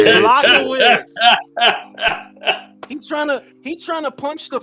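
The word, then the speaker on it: Błachowicz: If you ever It's fight a fat pronounced- motherfucker in the it's street. Blachowicz.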